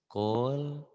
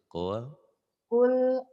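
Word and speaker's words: قل: Qul a'udzu birabbin nas. Jangan takut-takut, tenang. Qul qulnya idhar hukum lamati. Ya dibacanya jelas. Qul a'udzu birabbin nas.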